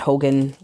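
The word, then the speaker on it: Haugen: So it's not pronounced Hogan technically, but that is the pronunciation that the name has ended up with.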